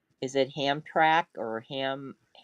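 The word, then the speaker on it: Hamtramck: Hamrak or Ham Ham Tramik.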